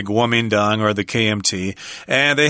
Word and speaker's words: Kuomintang: This is spelled with the old Wei-Jile system, Kuomintang. I've heard people say it that way, but very rarely most people say Kuomintang or the KMT.